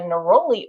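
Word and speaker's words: neroli: And uh some used uh naroli n e r o l i.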